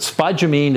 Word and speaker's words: spodumene: Okay, so the next two are minerals, spodumene, which you wouldn't even know how to pronounce it, but spodumene it's called, and petalite.